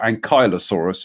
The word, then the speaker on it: ankylosaurus: remember building the triceratops the ankylosaurus or ankylosaurus as apparently you're supposed to pronounce it uh and the stegosaurus